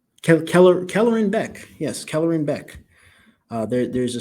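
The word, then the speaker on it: Kelleran Beck: I'm the sorry, Ahmed Best as how do you pronounce this name? Kellerin Beck.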